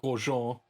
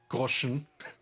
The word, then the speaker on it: Grosjean: But I won't top the pronunciation of Grosjean in RTL Groschen.